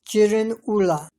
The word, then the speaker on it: Girin Ula: In the Manchu language, the name of this area is pronounced as Jiren Ula.